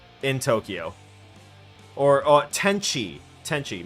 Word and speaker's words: Tenchi: Tenshi in Tokyo. Or Tenchi. Tenchi, my bad. I was mispronouncing it the whole time. Tenchi in Tokyo. I said S instead of C.